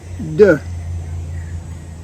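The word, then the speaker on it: deux: sounds like I'm grunting two is Du sounds like I'm not sure what I want to say du number three is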